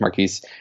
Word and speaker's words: Markiz: that in addition to my name being but not butchered all the time because marquees it's not often pronounced exactly the way it's spelled is that I'm human